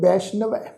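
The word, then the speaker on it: ਬੈਸਨੋ: वैष्णव पाठ है जी बब्बे उत्ते दुलावां दा पाठ सस्से पैर बिंदी लगा के तुसीं देखो सस्से दे पैर विच फिर अद्धा नन्ना लगा होया। नन्ने का भी उच्चारण करांगे, सस्से पैर बिंदी लगा के पाठ उच्चारण करांगे वैष्णव।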